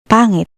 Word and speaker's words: Pangit: Notice how no matter where the H or NG appears, the sound never changes. This makes reading and pronouncing Tagalog words much more predictable than in English.